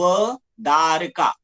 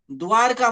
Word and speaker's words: द्वारका: पण इंग्लिशमध्ये स्पेलिंग लिहिताना आपण काय, किंवा उच्चार करताना आपण काय म्हणतो, व दारका. वदारका म्हणतो का, द्वारका म्हणतो? द्वारका म्हणतो, बरोबर ना.